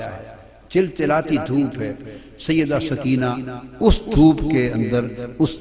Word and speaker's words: سکینہ: جگر شہزادی سیدہ سکینہ، اصل نام ان کا عربی وزن میں سکینہ ہے، عرف عام میں سکینہ چلتا ہے، مگر اصل لفظ سکینہ۔ سیدہ میں عرف عام